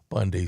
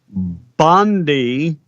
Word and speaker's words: Bondi: Brother US Attorney General Pam Bundy says the texter. By the way, uh her name is Bondi. Bondi. Pam. Bondi. Where did you get Bundy?